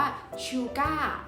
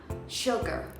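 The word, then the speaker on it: sugar: เด็ก ๆ เนี่ย มัน จะ ออก เสียง ว่า ชูก้า หรือ ว่า ชู กับ นะ คะ จริง ๆ แล้ว คำ ที่ ไม่ ออก เสียง แบบ นั้น เลย นะ คะ มัน ออก เสียง ว่า Checker เช็ค เอ้อ นะ คะ ลอง ฟัง ดู นะ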